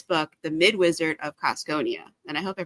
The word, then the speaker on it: Cosconia: Okay, it's a teensy bit different. So, I'm Schopen, author of The Mid Wizard of Coneia. So, that's how I pronounce it. And fun fact, that is derived from Cusco.